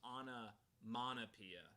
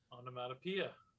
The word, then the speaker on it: onomatopoeia: for my entire life i thought it was on a monopia not automata pia onomatopoeia i thought it was